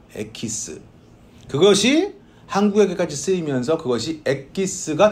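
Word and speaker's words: エキス: 이 EX라는 말을 딱 떼내서 일본에서 에키스라고 발음을 했대요. 에키스.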